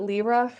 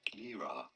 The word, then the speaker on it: Lyra: Is it Lyra? Am I saying it wrong again? No, it is not Lyra, but rather Lyra.